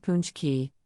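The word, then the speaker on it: pączki: a typical polished dessert Pax key pronounced punch key is a traditional polished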